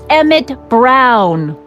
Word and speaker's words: Emmett Brown: bill to a t that's emmett brown rhymes with clown which i'm beginning to